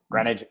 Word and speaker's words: Greenwich: folks Gary from Greenwich how do you pronounce it again okay rich spinach granted Greenwich green waits you call everyone Greenwich